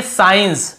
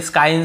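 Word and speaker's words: science: कहा जाता है यहां पे देखिए साइंस हम केवल एस के बाद साइंस ऐसे पढ़ रहे हैं एस को यहां पे स्काइन स्काइन ऐसे नहीं पढ़ रहे यहां पर भी देखिए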